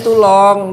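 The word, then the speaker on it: Toulon: tahuis tulong tulong tulong bacanya tulong di Prancis benar enggak sih di Prancis Iya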